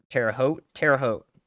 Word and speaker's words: Terre Haute: Is it Terre Haute? Terre Haute. There we go.